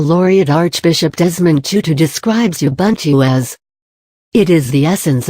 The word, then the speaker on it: Ubuntu: decency and tolerance on teaching Ubuntu the words Ubuntu originates from one of the Bantu dialects of Africa and is pronounced as a boon - it is a